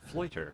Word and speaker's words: Fleuter: how do you say your last name again? Fleuter. Fleuter. Like loiter, but with an F.